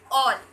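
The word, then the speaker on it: all: When vowel A comes before single L or double L in a word, यानी कि जब vowel a single L और double L के पहले आएगा तब उसका उच्चारण होगा ऑ। जैसे A double L ऑल, ऑल बोलते हैं ना कि आल बोलते हैं।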